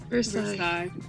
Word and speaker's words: Versailles: Versailles. Wait, that's how you pronounce it? Yeah. Well, where'd the LLES go in that pronunciation? They're kind of pronounced like a Y.